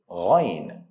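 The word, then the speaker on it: غ: Now, you don't pronounce it straight, Ain or Ghain. Try to add tonation or curve them a little bit to get the right sound. Ain, not Ain. Ghain, not Ghain.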